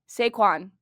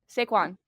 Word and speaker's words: Saquon: Saquon. Saquon. Mm-hmm. Okay. It's not like I completely butchered it. No, you didn't. I just put the emphasis I emphasized it incorrectly.